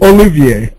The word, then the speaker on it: Olivier: So it's Olivier, like Lawrence Olivier.